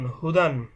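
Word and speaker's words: هدى: হা পেশ হু, দাল দুই জবর দান, হুদান। দেখুন এখানে একটা ইয়া দেখা যাচ্ছে, এই ইয়াটা লেখার ক্ষেত্রে আসে কিন্তু উচ্চারণের ক্ষেত্রে ইয়াটা উচ্চারণ হবে না।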